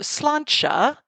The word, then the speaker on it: sláinte: would like to toast, to sláinte, which is spelled differently than it sounds in the Gaelic way.